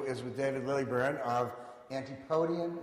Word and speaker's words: Antipodean: Okay, our next interview is with David Lilburne of Antipodean, is that pronounced correctly? Antipodean, if you are from the area.